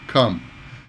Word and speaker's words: come: come and Capcom yeah come is in US and uh uh like bus come calm is an ah sound calm come come come